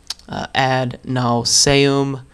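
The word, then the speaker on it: ad nauseam: times and do it add nauseum add naum is the Latin pronunciation um and uh have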